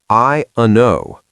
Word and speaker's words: I don't know: The T in don't is gone. The D in don't is almost gone. It's just vowels and nasals. I uno. Three sounds. I uno.